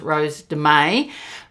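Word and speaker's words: Rose de Mai: Now, I know this is pronounced Rose Demay, but my grandmother's on my mother's side.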